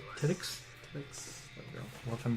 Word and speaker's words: Tedyx: Okay, that one's kind of hard to pronounce. Tedyx. T... E-D-Y-X. Tedix?